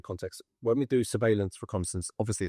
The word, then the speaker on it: reconnaissance: Reconnaissance. Reconnaissance. So, explain like what does the word reconnaissance? What does it even mean? Security reconnaissance. You said it right. Yeah. No, it's it's reconnaissance. It's a French word.